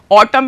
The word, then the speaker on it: autumn: Autumn में n silent होता है, इसको autumn पढ़ते हैं. लिखते क्या है स्पेलिंग? AUTUMN, लेकिन पढ़ते autumn में.